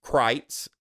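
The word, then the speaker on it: Kreuz: score of a 9.2 Crites Crites Market in Lockhart now it's spelled like krutz it's spelled k-r-e-u-z but it's German so it's pronounced Crites and uh and man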